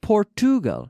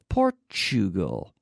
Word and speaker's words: Portugal: qu repeat after me Portugal so it's not poor to go no Portugal mixture expenditure statue statue very good furniture and